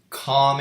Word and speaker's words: calm: Calm and focused. Okay, got it. calm and focused. Like that silent L definitely does change it if you're like not expecting it, I guess.